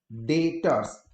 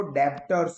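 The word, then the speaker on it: debtors: ध्यान से देखना, प्रोनाउंसिएशन में ध्यान रखना, कुछ स्टूडेंट्स इसको डेप्टर्स बोलते हैं, डेप्टर्स नहीं है, ये जो बी है वो साइलेंट है, ठीक है? तो प्रोनाउंसिएशन करना है डेटर्स।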